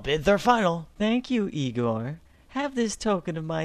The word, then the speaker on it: Igor: are final thank you Igor have this token of my eternal gratitude it's pronounced igore Rich gifts waxs poor